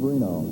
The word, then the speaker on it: Renaud: You may wonder about the pronunciation, but that is the preferred family pronunciation. And so, obviously, I will acquiesce to their wishes and pronounce it as the person wants it pronounced.